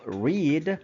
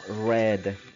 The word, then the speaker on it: read: Es decir, en presente simple se va a pronunciar como read, R-I-D, y en pasado simple como read, R-E-D.